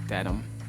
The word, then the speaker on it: Denholm: HQ in Melbourne so the name danom comes from a little village which is called danom but we actually pronounce it Denham it's a little village